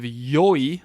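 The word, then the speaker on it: よい: In fact, it is E, like it's the letter E, which comes from the it is the slurred pronunciation of the actual E adjective yoi.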